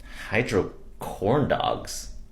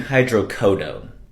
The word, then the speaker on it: hydrocodone: case I need it Hydro corn dogs in case you need it for what pain I think you mean hydrocodone oh yeah that is how you say it is that a medication